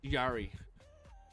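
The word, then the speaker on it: Jarry: Why are you pronouncing Yari like that? How am I supposed to pronounce it? Tristan Yari. Jari. Yari. I don't know. I go back and forth between it. Use the Jade. No, it's Yari.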